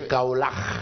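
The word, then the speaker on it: Kaolack: Peut-être qu'il est entre Abdallah Wallo, Taïf et Kaolach. Quand même. J'insiste sur la prononciation Kaolach. Kaolach. C'est pas Kaolach. Non. Kaolach.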